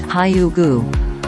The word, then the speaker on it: hygge: Wiking is the CEO at the Happiness Research Institute and an expert on hyoo-guh, pronounced hyoo-guh, a Danish word that loosely translates to coziness or comfort.